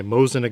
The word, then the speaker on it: Mosin: United States just FYI I'm going to be pronouncing it Mosin it got so if